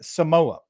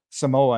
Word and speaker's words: Samoa: coming out of American Samoa and based on some interviews that I've been hearing I might be mispronouncing Samoa and it might be Samoa you may not think